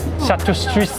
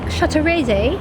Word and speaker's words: Châteraisé: How do you pronounce this brand? CHA-TUS-STRISE? Thank you! So of course we need to try, like, one of the bigger brands, right? Which is like, “Châteraisé” (proper British pronounciation) Colour, not looking too— too good...